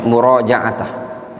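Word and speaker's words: مراجعة: Atau yang lebih tepat bacanya murajaat.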